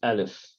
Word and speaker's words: alif: name of the letter Now alif by itself it's actually a silent letter there's no no sound for it unless you put a vowel to it a vowel it's the one that will give it sound now before we go